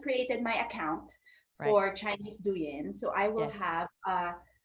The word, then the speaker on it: Douyin: First would be pronounce this with me. Douyin.